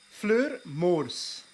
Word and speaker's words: Fleur Moors: Fleur Moors. That's how I would pronounce it as a Flemish person.